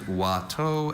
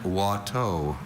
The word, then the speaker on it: Watteau: Are there any alternate pronunciations? There's Watteau and Watteau.